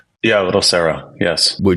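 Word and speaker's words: Serow: You helped open Little Sero, is it pronounced? Yeah, Little Sarah.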